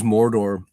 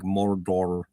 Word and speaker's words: Mordor: And he pronounces Mordor. It's like the O sound is is an actual odd vowel sound that is not in English or or European sound. And there isn't syllabic emphasis.